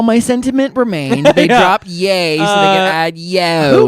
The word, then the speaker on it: Ye: So, it's pronounced Yay.